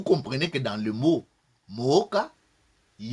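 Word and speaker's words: Mwoca: Banya Mooka. Donc le Mooka s'écrit avec M-W-O-C-A.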